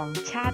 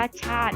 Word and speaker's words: ชาติ: สำคัญ ของ ชาติ ไทย ตรง นี้ อ่าน ว่า ชาติ นะ คะ ไม่ อ่าน ว่า ชา ติ นะ คะ พับ พร้อม กัน แล้ว